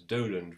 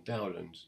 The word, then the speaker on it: Dowland: And that perhaps gives us a hint as to how he would pronounce his name, perhaps Dowland rather than Dowland, to go with Dolens.